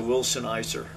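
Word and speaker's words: Wilson Elser: shingle and gone to Wilson Eiser I think it's pronounced he had the board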